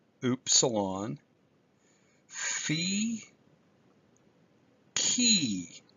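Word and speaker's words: chi: how ooop salon fee key that letter that looks like an English X is pronounced key Z and the last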